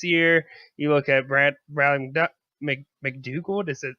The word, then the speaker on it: McDougald: You look at Bradley McDougald. Is that how you say it? Yeah, McDougald.